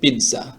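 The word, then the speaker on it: pizza: কিন্তু এখানে তো টি নাই। এখানে দুইটা জেড আছে। কিন্তু একটার জেডের উচ্চারণটা টির মত হবে। পিজ্জা।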